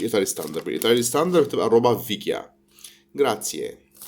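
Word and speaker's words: roba vecchia: بس هي بالايطالي هي مش بيكيا، هي فيكيا. روبا فيكيا. بس هي بتنطق روبا بيكيا عشان ده نطق الجنوب. يعني في بعض المناطق في جنوب ايطاليا بتنطق حرف الفي بالبي.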